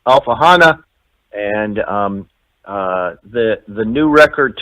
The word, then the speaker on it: Alfahanne: listeners and viewers that it's alpha Hana and the the new